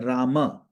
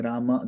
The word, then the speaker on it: Rama: Now one may see okay in praa sometimes it sounds like he's just saying Ram but it's very subtle. If you slow it down he's saying Rama.